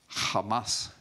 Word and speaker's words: Hamas: You pronounce it with a little bit of guttural stop. It's spelled in English C-H-A-M-A-S, but it's Hamas, cruelty and violence.